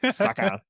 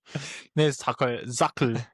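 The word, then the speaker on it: Sackerl: Sucker. No, Sackel. You need to say it properly.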